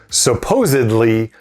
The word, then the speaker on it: supposedly: that's whether to use supposedly or supposably oftentimes this is a pronunciation problem people switch the d for the b these two words have